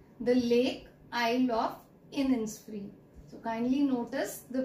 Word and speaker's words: Innisfree: I am repeating the name, The Lake Isle of Innisfree. So kindly notice the pronunciation, right?